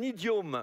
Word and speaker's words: idiome: un idiome, il faut bien prononcer comme il faut hein, faut pas faut faire faut pas quelque on va pas traiter quelqu'un espèce d'idium hein. C'est pas ça que j'ai dit hein.